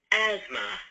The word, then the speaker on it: asthma: let's go ahead I will search for um asthma because that's easy to spell and uh once we bring that up let's find the correct term I'll turn my speakers up again you can hear it pronounced Asma and you can see it Illustrated and sometimes